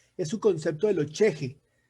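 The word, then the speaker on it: chixi: su concepto de lo cheje. Cheje es una palabra aymara que se escribe C-H-I-X-I.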